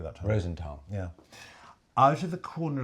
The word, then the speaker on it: Rosenthal: Rosenthal.